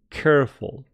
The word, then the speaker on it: careful: So, in English, it is a dry k. So we say careful. I know in some other languages that k could be different, but please pronounce words correctly. Please be careful. Some students say, please be careful. Be careful. Or any other che sound. No, that's not the English K. The English K is K.